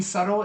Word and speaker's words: subtle: so sorry uh yeah the b in subtle is silent it's not subtle the